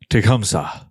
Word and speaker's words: Tecumseh: It's pronounced as Tecumseh.